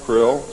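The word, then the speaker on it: Krlll: name and title was his omnipotent highness krill pronounced krill spelled k-r-l-l-l or c-r-l-l-l in the american tradition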